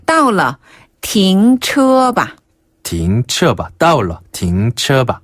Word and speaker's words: 停: 띵 아니고 停.